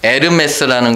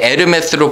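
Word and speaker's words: Hermès: 근데 여러분 에르메스라는 거 들어보셨어요? 에르메스? 에르메스가 뭔지 아세요? 에르메스라는 원래 말이 헐미스, 헤르메스에서 나온 거예요. H가 묵음으로 돼요.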